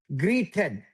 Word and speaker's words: greeted: No, the R, right? So ch the R. You want to pronounce the R like like greet like greeted.